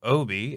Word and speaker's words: O.B.: We just figured out how to say this right here. There was a whole lecture, a whole lecture about it like yesterday, and from me. Yeah, I was like, just say it like AJ.